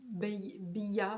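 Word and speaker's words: Beyah: Euh alors c'est pas ça se prononce pas comme ça parce qu'elle le dit, c'est Bya B. Ça s'écrit B E Y A H.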